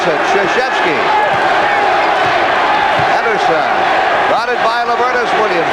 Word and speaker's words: Krzyzewski: It took me 2 years to learn how to pronounce it. Krzyzewski.